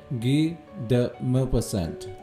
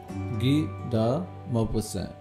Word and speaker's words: Guy de Maupassant: Guy de Maupassant. Guy de Maupassant. Okay? Maupassant. Okay, since the name of the writer is French and the writer himself is French, right?